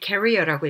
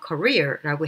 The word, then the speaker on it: career: 그 외에 career는 뭐 워낙 많이 출제된 거라서 말할 필요도 없지만 그래도 여전히 많은 분들이 career라고 읽기 때문에 career 안 되고요. career라고 해야 되고, 그리고 Ms.